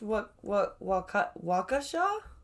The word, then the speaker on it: Waukesha: past the links here i think this is pronounced wakasha uh the joyous scene